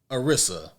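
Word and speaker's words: Anissa: Arissa.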